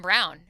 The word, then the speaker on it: Braun: I understand now we're pronouncing it Brown. It was Braun when he was at Kansas, so I'm doing the in between there.